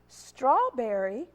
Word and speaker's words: strawberry: this one quite often strawberry or strawberry it's not scroll scr it's straw that blend there the st and adding that r is struck all right strawberry all